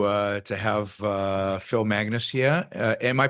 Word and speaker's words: Magness: Uh I'm really thrilled uh to uh to have uh Phil Magnus here. Am I pronouncing that right?